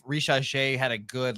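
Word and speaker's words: Risacher: How do you say it? Rissacher. Yeah, a little French in there.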